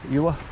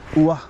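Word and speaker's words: Ure: over the bridge, over the river, Ewa, or U-R-E, Ua, or whichever way you want to pronounce it, and then go along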